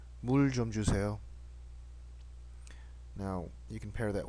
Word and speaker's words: 물 좀 주세요: When paired with only one vowel, the circle consonant is silent. Okay, so only the vowel is spoken.